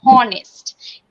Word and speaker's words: honest: sometimes we pronounce it it honest it's not a honest at the beginning age will be silent so correct finance it